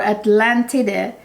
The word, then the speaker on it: Atlantide: This is Atlantide, or Atlantide. That's how the Italians pronounce it.